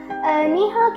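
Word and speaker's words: 你好: So the first and most basic way of saying hello in Chinese is ni hao. Ni hao can be used when greeting your friends or siblings, for example, and it's pronounced as ni hao.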